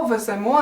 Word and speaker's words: веземо: присудок підемо до речі зверни увагу що всіх дієсловах які закінчуються на емо наголос на останній склад наприклад Ідемо беремо веземо несемо Я знаю що звучить